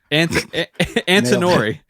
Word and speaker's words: Antinori: Cameron, could you pronounce that for me? Ignacio Cattori. Antinori.